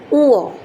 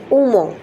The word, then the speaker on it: উ: একটু দেখুন উ এই হল উ নট উম উম অনেক বাচ্চাই বলে উম অনেক গার্জেনি বা জানে না এই জিনিসটা সঠিক উচ্চারণটা সেটা হল এটাকে উ বলে দেখুন এই আপনার বাচ্চাকে